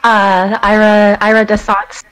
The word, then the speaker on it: Ira D'Essance: It's none other than Ira DeSance. Did I say that right? Yeah, Ira DeSance. It's like a fancier version. It's like a bougie version of iridescence.